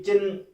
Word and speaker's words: चिह्न: अब देखिए, चिन्ह बोलने में जैसे भी है, लेकिन इसकी स्पेलिंग है वो चिह्न इस तरह से होती है।